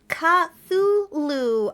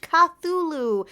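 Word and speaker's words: Cthulhu: place I'm coming from um K oh okay cthulu that's how you pronounce it thank you so much cthulu honestly I've seen the word so many times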